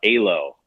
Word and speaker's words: Alo: You know what I think, Puck, is try this new trendy store in Bellevue, and I don't even know how to pronounce it. Alo.